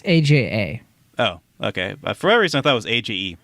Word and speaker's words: Aja: it Alexandra aha aha okay so it's I thought it was AG G is it Aja it's Aja oh okay for what